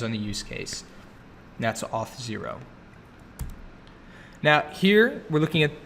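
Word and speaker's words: Auth0: very powerful stuff here this next company is pronounced off zero now for many website and mobile app developers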